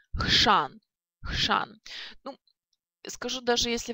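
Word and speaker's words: chrzan: И хшан, хшан.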